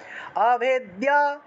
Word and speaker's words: अभेद्या: काफिचूरामणिस्तथा ज्वालामुखी नखज्वालम अभेद्या দিয়াটা একসাথে উচ্চারণ করবেন কারণ দয়ের সাথে জফলা ছিল अभेद्या अभेद्या सर्वसन्धिषु शुक्रं ब्रह्माणि